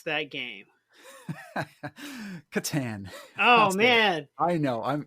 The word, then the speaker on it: Catan: How do you pronounce that game? Catan.